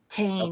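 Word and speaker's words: Tain: Everybody's asking in the chat, as per Star Trek .com, Inabrantane is spelled T-A-I-N, Tane, Okay. like pain.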